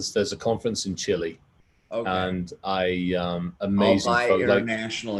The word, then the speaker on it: Chile: Yes, pronounce it correctly. Chile.